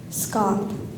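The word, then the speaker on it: scaup: could you repeat the word please SC scop scop s c a u p scop optim optim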